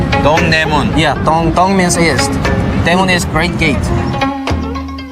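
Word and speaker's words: 동대문: you say that in korean in korean it's dongdaemun dongdaemun yeah means is great gate historically the soul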